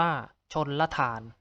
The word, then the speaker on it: ชลธาร: หรือ คำ ที่ 144 คำ ว่า ชลธาร อ่าน ว่า ชน ละ ฐาน ต่อ ไป คำ ที่